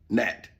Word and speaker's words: gnat: Now, let's make, gnat. Gnat. Yeah, see, gnat. But it's G-N-A-T, huh? The G is silent.